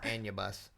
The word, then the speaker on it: Anubis: correcting somebody on how to pronounce a word again. Oh my gosh, Anubis. Here we go. It's Anubis.